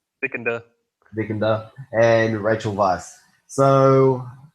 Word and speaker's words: Vikander: It stars Michael Fastpender and Alicia Vikandanda. Vikander, how you say her name? Vicander.